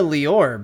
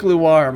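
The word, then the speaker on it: Loire: a seat okay so so far the suggestions on how to pronounce his last name is smith and luar that uh you know what i think luar might be a serious suggestion like noir with an l okay have a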